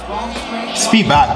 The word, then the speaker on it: Spivak: Spivak, that's the pronunciation of this guy's name.